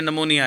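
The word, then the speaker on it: pneumonia: ये पी नमोनिया है बेटा, इसको पी साइलेंट होता है इसमें, ये नमोनिया है इसमें, है तो ये नमोनिया की वजह बनते थे।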